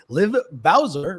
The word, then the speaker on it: Liv Bowser: and Tomer Saran, and our special guest today, Liv Bowser, right? Liv Bowser? That's how you pronounce that?